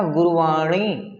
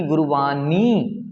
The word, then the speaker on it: गुरवाणी: जैसे मैंने कहा गुरवाणी ना कि गुरवानी, नी नहीं है, ये ड़ है।